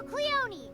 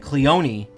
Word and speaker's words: Cleone: Oh, and you'll give me new Cleone. You promise. That's how you pronounce that. Cleonyi. It's a long e.